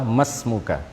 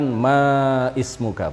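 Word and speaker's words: ما اسمك: Jadi kalau kita membaca masmuka, itu yang benar adalah masmuka, bukan maismuka, bukan. Ya. Kenapa? Karena alif di situ adalah aliful wasli atau hamzatul wasli. Jadi secara pelafalan dihilangkan. Bukan maismuka, tetapi apa? Masmuka.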